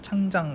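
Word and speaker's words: 长江: 생각을 합니다 이강의 이름은 장당 다른 이름으로 중국 발음으로 는 창장 각 조금 우리가 흔히 쓰는 이름으로는 양쯔 강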